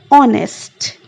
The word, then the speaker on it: honest: the vowel sound, while the word honest is beginning with the consonant H, but it produces the vowel sound of O while pronouncing it. So N will be used before honest.